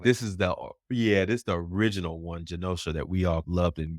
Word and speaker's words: Genosha: Is it how you pronounce Genosa? Is that how you pronounce it? Genosha.